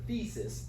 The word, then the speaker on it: thesis: There's just a couple of words that I may have struggled, like this word thesis, long E sound.